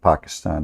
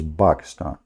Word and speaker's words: Pakistan: How the Quran says, by the way, this is the correct way to say it, not Pakistan, like in English, you know, that's funny. It is Pakistan, okay?